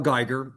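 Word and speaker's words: Geiger: Your name and spell it for the record. My name's Guyger. That's first name C A R L. Last name G E I G E R. Okay. Mr. Geger, can you turn on your camera?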